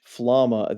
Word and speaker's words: Flamme: tome by the mage Flamma. The English dub calls her Flamma. I don't know. It's spelled Flamme. To me, that's like flam, but they call her Flamma.